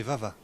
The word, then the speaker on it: Vava: C'est le nom pour Eva, c'est ma fille. C'est le cousin, c'est pas prononcé Eva, c'est Vava.